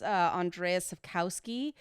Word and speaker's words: Andrzej Sapkowski: didn't actually read the the books I always mispronounce the author's name of the Richard books I think it's Andrzej Sapkowski but the the The Witcher stories are pretty